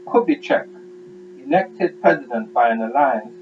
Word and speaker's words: Kubitschek: Yeah, I think the S is silent. So Kubitschek, elected president by an alliance of the two parties set up by Vargas, Partido Trabalhista Brasileiro.